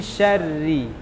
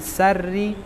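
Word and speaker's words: شَرِّ: Kemudian yang kedua hurufnya shin bukan sin. Sya, mi syarri. Jangan sarri, syarri.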